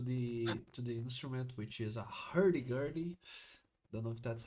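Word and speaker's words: hurdy-gurdy: to the to the instrument which is a herie gertie. Don't know if that's how you pronounce it. Hery. Oh, that's awesome. Gertie. It's correct. It's a hurty dirty.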